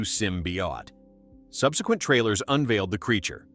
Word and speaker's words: symbiote: The first teaser in February 2018 drew flak for teasing without revealing Venom and botching the symbiote pronunciation as Simbought, quickly corrected to Simbi.